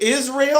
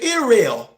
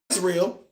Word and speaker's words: Israel: But then when I see the word Israel, is it Israel or is it Irael? Well, no. No. In that case, the S is not s.